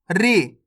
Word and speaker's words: ऋ: अब आगे देखिए, री। इसका उच्चारण कैसे करेंगे? री, जैसे ऋषि, ऋतिक, ऋषभ।